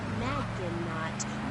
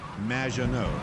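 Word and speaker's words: Maginot: It's M, which rhymes with badge. Uh, as in duh, and no as in more than you. Majo.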